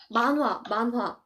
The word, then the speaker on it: manhwa: it's manhwa. I think since you speak many languages, your pronunciation is pretty good, I think.